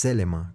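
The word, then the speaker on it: θέλημα: Ahí la palabra que se utiliza es telema, que era como se pronuncia en griego, ¿no?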